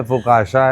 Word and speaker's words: focaccia: फुकाशा तो आप जिंदगी में, उसका स्पेलिंग है FOCCIA, फुकाशा, हाँ, CCIA, FOCACCIA। कैसे तुम्हें सपनों में आएगा कि फुकाशा बोलेंगे इसको? एक्चुअली तो फुसासिया होना चाहिए, या फुकासिया होना चाहिए, या फुकाकिया होना चाहिए।